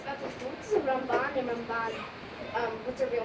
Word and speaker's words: Ramban: We put an emphasis on the first syllable for Rambam, for Maimonides, and emphasis on the last syllable, Ramban, for Nachmanides.